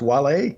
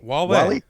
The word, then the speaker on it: Wale: But you say his name is pronounced Wale. Wale.